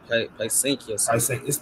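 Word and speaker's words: Pysanky: Yeah, Paisanky.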